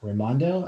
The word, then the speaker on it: Raimondo: going to be the rhode island governor gina raimondo i hope i pronounced that correctly that's correct thank you sir